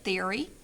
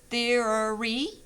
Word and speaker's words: theory: I highlighted it, theory. There are two different pronunciations, theory or theory. We commonly use this one. So over here, this shows 3 syllables, and then this one shows 2.